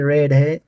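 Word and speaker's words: read: यह जो यहां पर रीड नजर आता है। लेकिन यह रेड है। इसमें ए साइलेंट है। इसकी वजह यह है कि यह सेकंड और थर्ड फॉर्म में रेड पढ़ा जाता है। जबकि फर्स्ट फॉर्म इसका रीड है।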